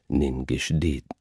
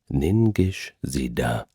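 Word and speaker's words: Ningishzida: shrine to burn a pinch of incense to Ninggish. Hang on a second. Ningish Zida. Excuse me for my ancient Samrian pronunciation.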